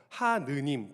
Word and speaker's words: 하느님: 이름의 하느님 또는 하나님이 평양 이북에서는 이 아래 아자의 발음이 하나님이었고 서울과 이남 지역에서는 하느님이었기 때문에 처음에는 둘을 섞어서 쓰다가 어느 순간부턴가 더 많은 사람들이 사용하는 발음인 아래 아자를 아로 읽는 하나님을 사용하게 되었습니다.